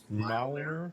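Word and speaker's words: Mjolnir: i r yeah just just pronounce it as if the J was a y Milner all right anyway it's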